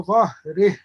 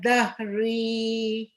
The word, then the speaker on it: ظهره: كتابه وراء ظهره. وأما من أوتي كتابه وراء ظهره. This ya is mad sila, not pronounced when we stop.